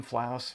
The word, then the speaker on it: Flouse: I'm Flouse, Rhymes with House.